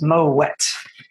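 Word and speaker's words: Moët: the family name is actually dutch in origin so the moet family was from flanders so kind of modern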